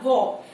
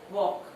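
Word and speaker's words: walk: For example word है हमारा वॉक, वे sound हमारी स्टार्टिंग में है और इमीडिएट बाद के की साउंड है तो हम बनाएंगे वॉक। एल हमारा साइलेंट है।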